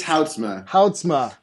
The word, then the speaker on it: Houtsma: morning though today i've got with me hotzma is that right did i pronounce that right it's it's housemate oh yes it's uh yeah i know and